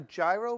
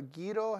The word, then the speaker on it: gyro: or a version on a gyro burger or gido however you like to pronounce that well we're going to